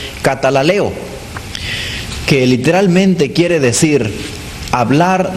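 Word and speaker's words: καταλαλέω: La palabra griega allí es una palabra compuesta que significa, que se pronuncia, mejor dicho, katalaleo, que literalmente quiere decir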